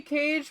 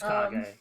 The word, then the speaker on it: Kag: going to be uh I want to say Cage, but I also want to say Kag. I don't remember how you say it. It's Kag.